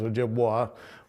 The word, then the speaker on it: Ojibwe: Okanagan, the Onondaga, and the Ojibwe, although since most people pronounce the vessel as Ojibwa, we say Ojibwe are the people. Ojibwa is the vessel.